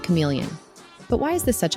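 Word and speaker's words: CM3leon: one powerful model called cm3 Leon pronounced chameleon but why is this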